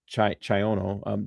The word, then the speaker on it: Chiono: Deputy, and he spells the deputy's name wrong, Nick Chino. That's why I kept calling him Chino. It's Chiono.